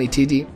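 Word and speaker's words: 一: El número uno se pronuncia Ichi, Ichiji.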